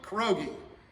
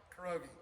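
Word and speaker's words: 겨루기: Sparring is kiriki, kurogi, like a pierogi, kurogi.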